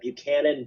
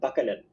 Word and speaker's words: Buchanan: example um when I was a kid I pronounced Buchanan bucanan okay I can see that Senate Cate I